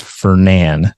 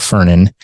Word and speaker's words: Fernan: So that's pronounced Fernan, not Fernan.